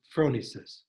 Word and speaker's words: phronesis: six and one of those is called phronesis p-h-r-o-n-e-s-i-s it's pronounced phronesis some people say phronesis it's probably phronesis in greek it means practical